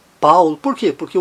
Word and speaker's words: Paul: Na palavra brown, no nome Paul, que em inglês é Paul, em alemão não, Paul.